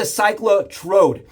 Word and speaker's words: Cyclotrode: We got the ClycloTrode.